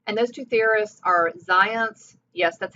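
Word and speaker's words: Zajonc: it just happens and those two theorists are zions yes that's how it's pronounced and ladue on the other hand lazarus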